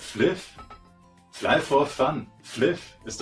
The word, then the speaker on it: Flyff: Da spricht man doch nicht Fly aus, du Vollidiot. Das heißt Fliff.